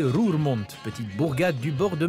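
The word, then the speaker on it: Roermond: bienvenue à rue au monde prononcé rue remonte petite bourgade du bord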